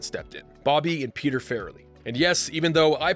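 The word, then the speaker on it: Farrelly: Bobby and Peter Fairley. And yes, even though I personally called them the Flli Brothers for years, that is how you pronounce their last name.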